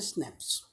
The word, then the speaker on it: SNPs: Okay, scientists have identified about 1.4 million locations where single base DNA differences, SNPs, single nucleotide polymorphism, pronounced as a SNPs, occurs in human.